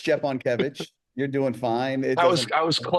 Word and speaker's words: Szczepankiewicz: Stepankiewicz. Stepankiewicz? Am I close? Szczepankiewicz, yeah.